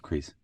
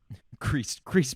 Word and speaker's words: Krys: Chris Barnes, that's Chris spelled Krys because he is a Gen Zer. It's pronounced Crease. Crease Barnes.